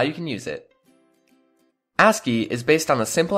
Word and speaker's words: ASCII: to you by bitmerge asci pronounced asky is the American Standard code for information interchange let's look at what that means and how you can use it aski is based on the